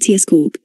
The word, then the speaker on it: Yitzchak: If the name of Jacob's father survived from the sound of pronouncing his name, then it would have sounded more like Yits cork, which the word whiskey